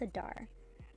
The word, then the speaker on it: Adar: It is Adar.